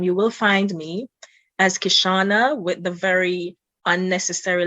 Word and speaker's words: Kishaunna: Don't let the U throw you off. The other N is unnecessary. It's a Caribbean thing. Oh my goodness, you're really gonna do that? I mean, how do you pronounce double N? No. No. It's it's a style. It's style. I don't know if there's any other way to pronounce double N than just N. So guys, it's Kishaunna.